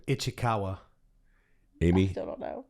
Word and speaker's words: Ichikawa: I want to make sure I pronounce it right. Chuck, how do you say? Ichikawa.